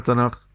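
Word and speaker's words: תנ״ך: يسمونه تناخ ما معنى تناخ تا تورا نون نبيين كاف كتبين يعني كتب لكنهم الكاف اذا جاءت متطرفه تنطقوا عندهم خاء العبرانيه الكاف متطرفه تنطق خاء فلذلك قالوا تناخ ولذلك يقول ملخ يعني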